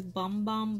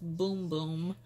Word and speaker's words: Bum Bum: Brazilian boom boom cream I know it looks like it says bum bum but it's pronounced boom boom and this is one